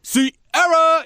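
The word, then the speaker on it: Ciara: Sierra, you got to say it like that Why?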